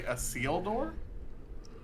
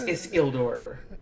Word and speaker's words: Isildur: Did you say a seal door? It's Isildur.